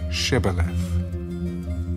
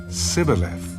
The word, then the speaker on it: shibboleth: would say to him then say shibboleth and he would say sibileth for he could not pronounce it right then they would take